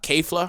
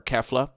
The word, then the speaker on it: Kefla: and stuff so basically k flah are kefla excuse me however you choose to pronounce it at I mean apparently I've been told both are right so anyways um kefla